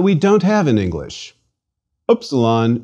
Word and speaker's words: upsilon: don't have in English opsilon should ideally be pronounced as the u in French to or as in the German word for Miller Miller in the other hand the U in English prune may serve as a close approximation please repeat Upsilon